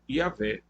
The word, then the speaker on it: Yahvé: A pronúncia mais adequada será, no entanto, Yahvé.